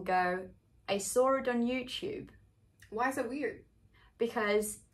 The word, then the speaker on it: YouTube: worth noting here is the way we say youtube in british english is with the chu sound just like you would say in the word choose can you try so